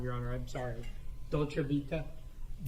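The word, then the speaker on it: Dolce Vita: And is that when you go into the restaurant called And I always get the I pronounce it wrong, your honor. I'm sorry. Dolcevita.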